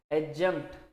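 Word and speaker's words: adjunct: दूसरा वर्ड लिखा है एडजंक्ट, मैंने आपको सिखाया भी है शायद कि जैसे ए और जे के बीच में डी आता है तो प्रोनाउंस नहीं करते, क्या पढ़ेंगे इसको, एडजंक्ट।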